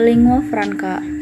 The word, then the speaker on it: lingua franca: A lingua franca, it's pronounced ling and wa, fran and ka, is a language or